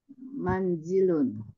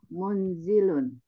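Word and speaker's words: منزل: sudah di sampaikan bahwa kalau dibaca munzilun itu maknanya beda bed kalau yang diinginkan itu kata yang bermakna rumah cara membacanya adalah manzilun Iya bagaimana maksudnya pertanyaan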